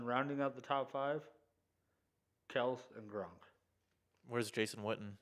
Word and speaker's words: Kelce: This Chiefs fan tells me that Travis Kelce, and that is the correct way to say his name. He has come out and said that it's not Kelce, but they just go with it because that's how everybody says it.